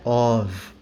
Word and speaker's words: of: Que se pronuncia of, com som de V.